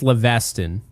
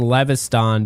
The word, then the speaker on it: Leveston: It's Leveston. Leveston. But I was saying Leviston because I obsess over getting these pronunciations correct. And so I found somewhere, I forget where it was, but it was pronounced Leviston, right? Not like Leviathan or whatever with the TH, but yeah, and apparently it's Leveston this whole time.